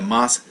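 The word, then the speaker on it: ます: M-A-S-U. Now it looks like masu, but normally it's pronounced mas.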